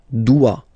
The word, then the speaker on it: doit: Il, elle, doit. Final T not pronounced.